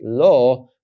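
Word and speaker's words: לוא: specific vowel here and the vowel that I know that the VAV is associated with is o or uh and so I pronounce this here as Lo knowing that the word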